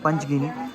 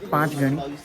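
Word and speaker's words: पाचगणी: नाम से पांच गण हम लोग बोलते हैं पंचगिनी लेकिन पंचगिनी नहीं पांच पांच गण महादेव जो है पांच गंगा मंदिर वहां से पांच गण ना हुआ लेकिन हम लोग प्रोनाउंस की हम लोगों की व गलती हो जाती है कभी कभी इसलिए हम लोग पंच गिनी पंच गिनी बोलते लेकिन सही में इसका नाम है पांच गण तो ठीक है यह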